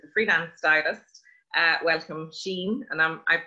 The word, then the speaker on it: Sian: week we are going to be talking to sheen sharkey who is the freelance stylist uh welcome sheen and i'm i'm pronouncing your name right yes yeah we do